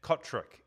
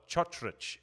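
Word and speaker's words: Cotric: trovich brothers or um Nick cotri or chrich as his name should be um pronounced it's it's really cool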